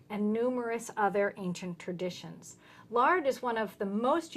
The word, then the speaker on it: Laird: The name is actually pronounced Laird. It's Laird. a Scottish term.